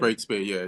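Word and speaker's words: Breakspeare: Breakspear, yeah.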